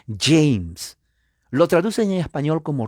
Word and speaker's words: James: rey james j ms la a es a la que no se pronuncia entonces y la jota no es gota es gay entonces se pronuncia james lo traduce en español